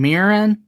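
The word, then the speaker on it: Mirren: Helen how do you say her last name mirin I got you it's one of those yellow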